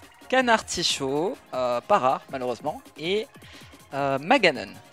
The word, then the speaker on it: Maganon: Et Maganon. Ou Maganon. Je sais pas comment vous le prononcez vous, mais moi généralement c'est Maganon.